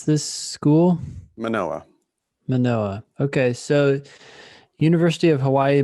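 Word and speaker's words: Mānoa: Okay, so how do you pronounce this school? Manoa.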